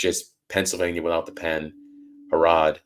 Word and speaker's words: Harrod: Pennsylvania without the pen harod like parents of London and we're good to